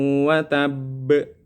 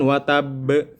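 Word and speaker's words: وَتَبَّ: Tabbat yada abi lahabin wa tabb. Nah, harusnya kan wa tabb, tetapi ada sebagian orang yang membacanya masih wa tab, tidak dipantulkan. Seharusnya kan memantul.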